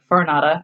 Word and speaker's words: Farinata: Dante ends up seeing a political rival, Farinata, I believe is how you say it. I could be wrong. You are right.